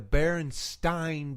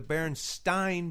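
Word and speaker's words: Berenstain: that not only that pronounced it specifically the baron stein bears right yes because of the spelling yes I I would I would say there were the baron stein bears because of the EI no doubt okay about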